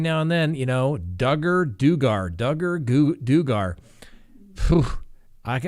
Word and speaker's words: Duggar: have the video where josh duggar rhymes with hugger can um uh say